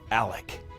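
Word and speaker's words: Alexc: My name is spelled A-L-E-X-C, and the X is silent. It's pronounced Alec.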